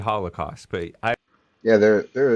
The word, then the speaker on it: Holocaust: pure money in politics the holy cost whatever i don't know i have some reverence i pronounce it i pronounce it holocaust but i yeah there